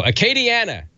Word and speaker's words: Acadiana: it you know how to say Acadia though Acadiana there's no are in a Katie Ann and I heard somebody